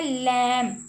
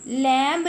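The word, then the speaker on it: lamb: आगे है लैम। लैम, लैम्ब नहीं पढ़ना, लैम्ब पढ़ना है इसको हमने, और बी साइलेंट है, ओके जी।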